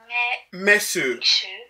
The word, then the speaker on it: mense: Mais au lieu de dire mense, c'est vraiment écrit mense avec le N, n'est-ce pas? Oui. Mais quand on dit men, on va seulement dire mais. Messe. Oui, donc ne prononce pas le N là.